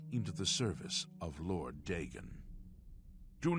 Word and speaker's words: Dagon: So it's pronounced Dagon. I thought this whole time I thought it was Dagon. warden of the Shrine of Dagon. Oh, see, he pronounces it Dagon.